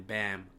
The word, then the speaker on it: Bam: And also, I have to say sorry to that man Bam Adebayo and my boy Dre, because he roasted me for saying his name wrong.